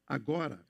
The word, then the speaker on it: agora: That is pronounced agora, which means now.